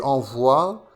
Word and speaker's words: envoie: J'envoie, tu envoies, c'est le son wa.